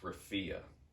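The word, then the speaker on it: Rafah: right by the Sea it's it's awful it's pronounced Rafia now this man probably thinks that there's a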